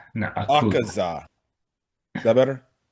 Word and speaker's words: Akaza: try to take down Auza. So you have a moments where it's it's pronounced Akaza Akaza.